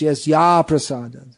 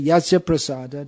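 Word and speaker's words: yasya prasāda: whatsoever in spiritual life it should be pronounced yes ya prasada if you say yasiya prasada that means by his mercy nagati katopi no hope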